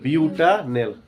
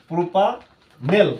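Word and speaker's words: butanal: এর উচ্চারণ কি হবো? বিউটা নেল।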